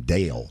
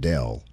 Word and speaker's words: Dale: And said, Bill said, Dale, he called him Dale, not Dell, Dale.